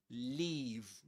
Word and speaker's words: leave: And the one that uh Luke mentions here is leave. Leave. Long e.